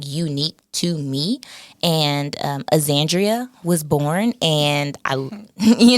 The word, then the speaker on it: Axandria: Vibe so um yeah aandrea that's my name that's how you pronounce it if anyone's confused out